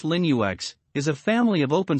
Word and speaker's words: Linux: and feel of mac os over windows linux pronounced linux is a family of open source operating systems